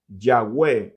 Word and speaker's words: Yahweh: Luego tenemos otros que proponen que debería pronunciarse no como Yahvé, sino que como Yahweh. Así tenemos en medio de las vocales la Y, la H, la W y la H.